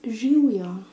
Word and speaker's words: živjo: Živjo. I don't write very... The writing is not perfect because it's quite strange. I hope you can see it, okay? It's živjo.